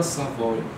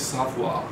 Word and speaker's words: Savoye: E o auge desse pensamento se traduz não só no livro, mas numa obra chamada Villa Savoye, ou em francês Savoie, uma pronúncia mais correta.